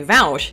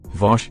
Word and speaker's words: Vaush: research on it was also recently raised by Vaush. Actually, it's pronounced Vosh.